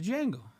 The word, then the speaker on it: Django: Yeah, the Django. Ain't that's what the movie's called. Okay. What's it called? Django. It has a D. Okay, next. D is silent.